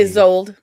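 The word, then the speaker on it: Isolde: But Tristan and Sold. It's It's not a sold. just always pronounce the e is old.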